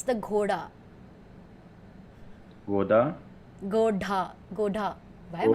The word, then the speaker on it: Ghoda: No, it's GHODA. G. Goda. Okay. Ghoda. Goda. Ghoda. It's like Yoda.